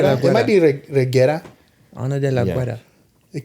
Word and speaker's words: Reguera: No, Reguera. Yeah. Reguera. Ana de la Guera. It might be Reguera.